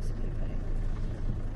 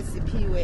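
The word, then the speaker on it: Siphiwe: Laurie wants to know if there's an English translation of your name, Sipiwe.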